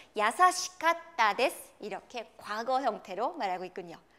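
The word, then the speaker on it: いい: 우리가 좋다라는 형용사를 말할 때는 이 혹은 이 같은 한자를 쓰고도 요이 이 두 가지로 발음이 됩니다. 자, 좋다는 발음이 두 가지가 있어요. 이 혹은 요이 이렇게 발음이 되는데요.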